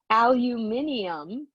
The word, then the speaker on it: aluminium: be atomic number 13 it is aluminium as the british say or aluminum here in the usa um either one is fine we're gonna put 13